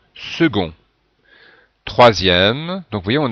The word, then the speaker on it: second: aussi second et attention la prononciation du C qui se prononce gu second 3e donc vous voyez